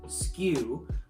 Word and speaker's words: SKU: have different skus it's conveniently pronounced skew and people pronounce it